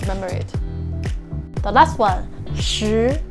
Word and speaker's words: 十: The last one, 十, 十, 十, okay? 十, 十, 十, or 十, okay? Both are fine. 十 as in sheet, okay? Sheet. The SH sound, but make it stronger, okay?